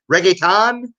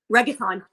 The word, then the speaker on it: reggaeton: Reggaeton? Reggaeton.